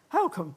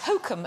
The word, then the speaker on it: Holcombe: Holcombe. Exactly. Yes. You know when people say Hokum and miss out the L? No, well, that's wrong, but Wrong.